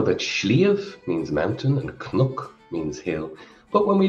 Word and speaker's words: cnoc: Well, the Irish for hill is cnoc. Cnoc. Cnoc. And that's pronounced differently in Connacht and Ulster. The pronunciation in the Connacht and Ulster dialects is crook, crook, and again, crook.